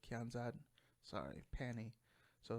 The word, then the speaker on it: Kianzad: i don't know how to say her name kianzid kianzad sorry penny so it's a jarvis panty and